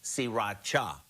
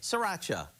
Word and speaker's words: sriracha: cooking is now everywhere it's actually pronounced siracha but most of us just say sriracha so here are the